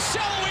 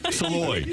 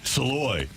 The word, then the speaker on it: Saloy: A Shallowy as well. Keenan! Shallowy! Somebody's got to tell this kid how to pronounce his name. Saloy. S-A-L-L-O-I. Saloy.